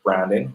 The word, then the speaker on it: Bhranding: It's BRANDING Uh-huh. plus HR equals BHRANDING. So it's still pronounced branding. The H is silent, but it's a way